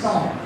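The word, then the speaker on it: cinq: 5 in French is, I think it's pronounced son, C-I-N-Q.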